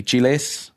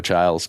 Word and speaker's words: Chiles: pronounces it differently um i think it's he i think he said it's technically chiles but he pronounces it orlando childs because um because that's how other people do it exactly but he's